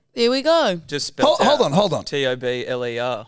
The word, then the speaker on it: Tobler: hold on hold on t-o-b-l-e-r you telling me your last name is pronounced tobler yeah sorry oh God why have we been calling you the entire time because